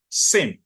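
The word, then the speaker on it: SIEM: sock tools and Technologies are what we call Sim Sim is spelled s i e m and is is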